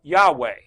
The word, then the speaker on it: Yahweh: We pronounce it Yahweh, Yahweh, Yahweh.